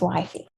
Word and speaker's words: WFY: remember this group is by memorizing the acronym wifey which is wfy and pronounced as wifey i came up with this acronym and i